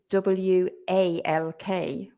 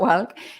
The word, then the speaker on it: walk: also get wrong, and they try to say walk, but it's not walk. It's walk with an, it sounds like an O, it's written with an A, right?